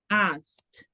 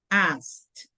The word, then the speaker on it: asked: complicated to pronounce so I recommend you to say asked okay asked why because should be asked should be asked not ask it asked okay asked but